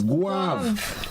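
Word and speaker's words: Gouyave: Not, you know, some folks try to pronounce it nicely. Guav. It's Guav.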